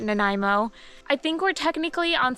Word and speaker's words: Nanaimo: the many many trails out here in Nanaimo that's how you pronounce it Nanaimo I think we're technically